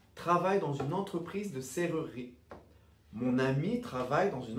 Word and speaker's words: serrurerie: Donc pour les portes, par exemple, on va prononcer serrurerie. Serrurerie. Donc le deuxième E est muet, ne se prononce pas.